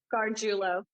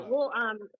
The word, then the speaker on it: Gargiulo: Gargiulo. Yeah. Gargiulo. I'll release a lot more tapes with him and of course the other offenders coming up. Because there's some pretty crazy tapes with Gargiulo.